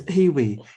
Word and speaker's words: Hiwi: Hewea, HEAWEA. How do you say that? It's Hiwi, healing wearable.